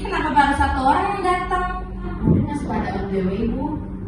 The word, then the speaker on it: datang: Datang ini seharusnya teman-teman diucapkan dengan huruf A, bukan huruf E.